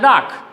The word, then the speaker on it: dark: So, before that letter R, if in any word there is a vowel, we should not pronounce that letter. So, it should be pronounced as dark.